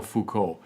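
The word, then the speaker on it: Foucault: proess in some ways Fuko represents by the way his name is is spelled f o u c a l t Michelle Fuko um in some ways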